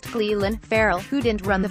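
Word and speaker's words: Clelin: I got votes for Clellan, pronounced Cleland, Farrell, who didn't run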